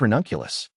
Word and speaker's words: Ranunculus: What is ranunculus? Plant family. 50 genera in Ranunculaceae. Buttercup family Ranunculus, pronounced Ranunculus, is a genus of flowering plants belonging to the buttercup family, Ranunculaceae.